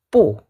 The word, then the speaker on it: 不: Bibirnya dirapetin ya. Terus digambung, bukan bu ya, tapi pu. Malahan jadi p gitu ya. Pu. Bukan. Pu. Tidak. Pu.